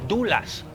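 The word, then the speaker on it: doula: Y también hay dulas. ¿Alguien sabe quién qué es una dula? Dou se escribe.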